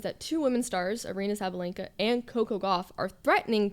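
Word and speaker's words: Sabalenka: I mean, Koko beat Sabayena. Well, I fully just butchered her name. That's okay. Sabalinka.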